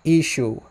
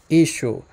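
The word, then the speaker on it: ܝܫܘܥ: But in the Western dialect, it's pronounced Ishu. Ishu. When you're writing it out, there is that letter ayin at the end. So it's possible that earlier on it was pronounced Yeshua, Yeshua, something like that.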